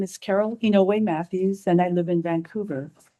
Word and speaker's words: Oniwe-Matthews: Thank you very much on Matthews. Sorry if I mispronounced Hello, my name is Carol Hinoi Matthews and I live in Vancouver.